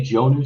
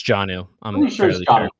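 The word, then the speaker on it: Jonnu: row and then uh jono smith i assume it's pronounced that way some people say joe new smith and i always no it's janu yeah so hunter henry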